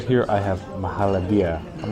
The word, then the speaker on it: Mahalabia: And I said it wrong a million times, but it's Mahalabia.